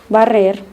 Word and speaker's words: barrer: To pronounce the double R sound properly, English speakers need to learn to trill your R's. Try making a purring sound like a cat. Feel your tongue vibrate. Rrr, rrr. Correr, barrer, cerrar.